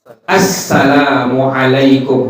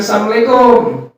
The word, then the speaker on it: Assalamualaikum: Kita mengucapkan kalimat Assalamualaikum, bukan Assalamualaikum.